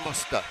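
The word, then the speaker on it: moster: mother's sister, for auntie the word is Morster. But kind of shortened to muster. Muster. But it's spelled Morster.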